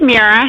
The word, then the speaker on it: Mira: Is it Mira or Mira? It's Mira. Mira.